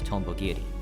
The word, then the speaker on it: Tonbogiri: The Tombogiri from old-gen consoles typically written as this, meaning Dragonfly Cutter. However, the Japanese translators for Terraria, Spike Chunsoft, decided to write the name in katakana, still pronounced Tombogiri.